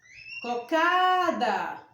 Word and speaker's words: cocada: Cocada. Qual foi a sílaba que eu pronunciei mais forte?